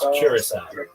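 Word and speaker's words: Curaçao: It's Curacao. Curacao, right.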